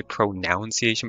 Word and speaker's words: pronunciation: only ever heard pronunciation I guess it makes sense because you say like pronounce but the U is specifically Pro sorry the O is specifically gone in pronunciation best imitation of a